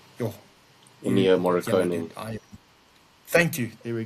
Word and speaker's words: Morricone: Uh, yo, you, Ennio yeah, no, Morricone.